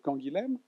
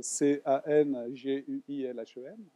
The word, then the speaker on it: Canguilhem: Donc vous voyez comment s'écrit Canguilhem, C-A-N-G-U-I-L-H-E-M, que lui-même probablement prononçait plutôt Canguilhem, hein, parce que c'est Castelnaudary, dans le sud-ouest, hein, mais je le prononcerai Canguilhem. Hein. en parisien du 15e arrondissement.